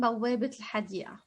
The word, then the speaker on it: بوابة الحديقة: So because I have another word after, I'm going to pronounce and vocalize the ta. So bawwābet el-hadii'ah. An example sentence here. Fitet min bawwābet el-hadii'ah.